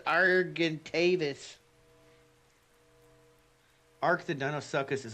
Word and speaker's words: Argentavis: Argy argy whatever you guys can correct me. It's pronounced argentavis.